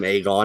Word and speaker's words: Aegon: you want that's why they called him Aegon it rhymes with John he wouldn't forget it